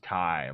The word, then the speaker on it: chi: And uh it's actually pronounced as Kai, like Dragon Ball Z Kai.